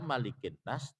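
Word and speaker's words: ملك الناس: Kita hafaz riwayat Asim, Asim riwayat hafaz itu membaca malikin nas dengan sebutan pendek. Malikin nas, bukan malikin nas. Ya, kalau kita dibacanya pendek.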